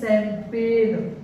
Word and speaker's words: champagne: इसी तरीके से बहुत सारे वर्ड हैं, जैसे हमने एक और वर्ड देखा CHAMPAGNE, इसको पढ़ते हैं शैंपेन, शैंपेन देखो CH स से शुरू हुआ, इसलिए ये फ्रेंच वर्ड है।